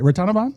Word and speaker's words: Ratanavanh: Ratanavanh?